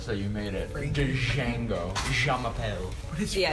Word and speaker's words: Django: Okay, so it's Django.